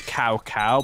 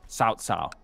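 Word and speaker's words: Cao Cao: It's cow cow, but it's got pronounced sao sao.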